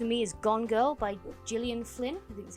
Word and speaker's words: Gillian Flynn: for this for me is gone girl by Gillian Flynn is how you say her name that's a